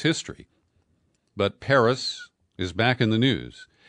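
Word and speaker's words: Perris: I've never been to Paris California it's spelled PE rris but I know too much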